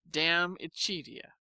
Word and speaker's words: De Amicitia: We've finished Livy and De Senectute, and are now engaged with De Amicitia, pronounced Dam Ichidia.